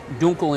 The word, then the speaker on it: Dunkel: it's called a munich dunkle dunkel or correctly pronounced duncal in german means dark and so this is